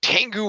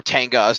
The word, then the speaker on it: Tengu: very large number of Tengu warriors or tangas depending on whether you subscribe to the movie or show pronunciation and then we also